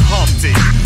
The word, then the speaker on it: Humpty: let me introduce myself my name is humpty pronounced with the empty yo ladies oh how